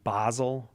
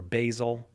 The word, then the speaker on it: Basel: and we start in Amsterdam and end in Basel or Basel or Basel. I'm not sure. I guess it depends on where you are, how you pronounce that one, but I'm going to say Basel.